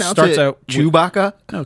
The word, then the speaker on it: Chewbacca: Did you and pronounce it starts it out Chewbacca? No, Chewbacca. Okay. So his first name's Chew. His last name's Baka.